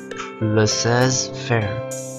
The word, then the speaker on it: laissez-faire: How do you pronounce that? Laissez-faire. Laissez-faire.